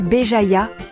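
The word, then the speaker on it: Béjaïa: Aujourd'hui, je vous emmène à Beéjaya, prononcer Beéjaya, une ville ensoleillée sur la côte méditerranéenne de l'Algérie.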